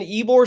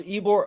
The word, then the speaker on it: Ybor: And like in Ybor City, when we see these shows at the